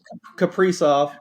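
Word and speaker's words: Kaprizov: Uh, I always pronounced his name wrong. Case Casper, what it Capri off.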